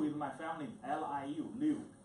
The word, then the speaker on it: Liu: We pronounce the family name first. Liu is my family, L-I-U, Liu.